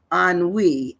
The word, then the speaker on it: ennui: today our word is an we it's like it's it's sounds like a n- we but it's spelled e n n UI an we so that's